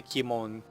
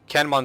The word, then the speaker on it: Kanmon: We're going to have armies cross from the Kimon, I keep pronouncing that wrong, Kanmon Strait, and we might land here at Nagasaki with another set of armies.